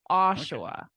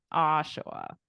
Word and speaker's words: Oshawa: little too easy but I thought for syllable stress you might put it on the end or something but and say like or like something like that but you got it Oshawa Oshawa not too bad right